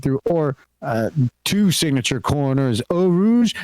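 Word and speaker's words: Eau Rouge: or to signature corners Oh Rouge and ready all officially are the pronunciations for both of those and they actually stem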